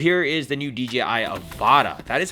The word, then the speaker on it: Avata: Here is the new DJI Avata. That is how you pronounce it, by the way.